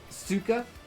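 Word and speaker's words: сука: For future reference, CYKA is a Russian swear, usually pronounced ska. The only Russian word I know is bleh! Pronounced suka?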